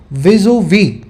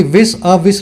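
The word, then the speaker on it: vis-à-vis: अच्छा फ्रेज अंग्रेजी में विजु वी, स्पेलिंग लिख लेना इसकी, विस अ विस लिखते हैं, लेकिन फेस टू फेस को विस ओ वी, विजु वी है ना, ऐसे बोलते हैं।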